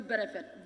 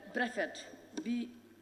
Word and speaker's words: Brefet: And also, Fonyi Berefet. Berefet is not properly spelled. It's spelled Berefet. Fonyi Berefet is Brefet. B-R-E-F-E-T, not B-E.